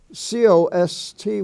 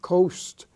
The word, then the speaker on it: cost: that family you have c-o-s-t which is not coast it's cost coast is spelled c-o-a-s-t